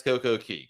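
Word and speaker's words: CocoCay: derek wants to know uh why do you pronounce coco k s coco key great question yeah daddy we all want to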